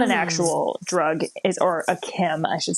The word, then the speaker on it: chem: Oh, chem, CHEM.